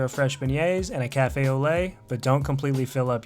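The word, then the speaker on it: café au lait: And before someone from Nola corrects you, cafe au lait is pronounced cafe au lait.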